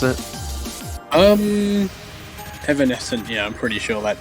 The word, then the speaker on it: Evanescent: Is that how you pronounce it? Evanescent, yeah, I'm pretty sure that is, and oh my god, correctly.